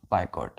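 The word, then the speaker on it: boycott: बी ओ वा सीटीटी लेकिन prawn क्या करेंगे बाय कट बाट क्लियर तो बाय कट क्लियर ब बायकॉट बाय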